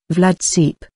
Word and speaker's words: Vlad Țepeș: dubbed Vlad the emperor Romanian vlads pronounced Vlad seep and was a three-time